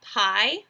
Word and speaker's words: pi: answer right ok and 30 in a circle pie this is the symbol for pie and it's pronounced PI P i okay it's equivalent to